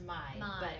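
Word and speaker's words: mãe: think it was pronounced mai it looks like may yeah and then pie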